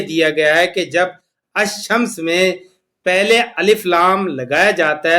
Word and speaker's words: الشمس: لام نہیں پڑھا جاتا، اس کو صرف یہ پڑھا جائے گا الشمس، لام خاموش ہو جائے گا۔ اس طرح جن